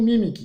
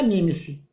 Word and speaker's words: mimic: é o seguinte, é porque a letra C em inglês, aqui eu tenho mimic, que é o verbo imitar. Mas alguém poderia pronunciar diferente, já que a letra C em inglês se pronuncia si. Então alguém pode dizer aqui que era mimice, ao invés de mimic.